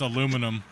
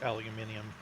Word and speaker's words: aluminium: My favorite is aluminum aluminium. Technically, it is aluminium.